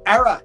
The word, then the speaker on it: Aera: Era.